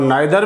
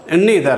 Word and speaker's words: neither: इनको कुछ लोग आइदर और नाइदर भी बोलते हैं, लेकिन इनका सही प्रोनाउंसिएशन क्या है, आपका ईदर और नीदर है।